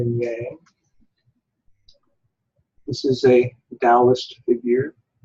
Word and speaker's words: Taoist: This is a Taoist figure, spelled Taoist. The T is pronounced like a D.